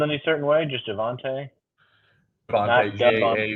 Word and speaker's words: Javonte: Javonte, not like Devonte. Javonte.